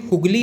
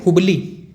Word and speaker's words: हुबली: याद रखिए हुगली नहीं है, हुगली एक नदी का नाम है। याद कीजिएगा कौन सी नदी का नाम है हुगली। ये है हुबली। प्रोनाउंसिएशन में हो सकता है समझ में ना आए, इसलिए मैंने यहाँ पे लिख दिया। कर्नाटक में कौन सा क्षेत्र है? हुगली नहीं है, हुबली है, ठीक।